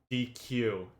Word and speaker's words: dequeue: They told me it's not called a DECU. It's called a deck because DQ is a command and it's spelled differently.